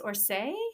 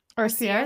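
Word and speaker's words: Orsières: And then OCC is similar where it's, I'm going to say it wrong, but it's Orsay. How do you say Orsay? Orsier. Orsier. Thank you.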